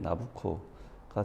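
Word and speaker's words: Nabucco: 오페라 나부코라고 할 때 이 나부코가 느부갓네살의 이탈리아 발음으로 하면 나부코가 된다고 합니다.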